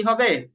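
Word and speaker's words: ه: তো হা নরম হরফ আর হা এর আরেকটা সিফাত হচ্ছে হা উচ্চারণ করার সময় বাতাস চালু থাকবে।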